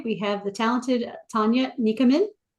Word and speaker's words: Nichamin: Tania Nichamin.